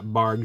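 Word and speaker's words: Barq's: Yeah, Bargs with a hard G. We don't call it barks around here. I will die on the hill.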